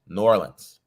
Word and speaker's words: New Orleans: I was getting corrected by the locals. New Orleans. You gotta say it like it's worth. Okay.